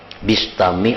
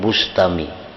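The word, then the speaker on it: al-Bistami: Yazid al-busthami atau al-bustami membacanya bistami atau betfame jangan Bustami Hai idibia Taubat karena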